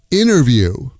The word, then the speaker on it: interview: Interview becomes inerview. Inerview. I had a nice inerview with the CFO.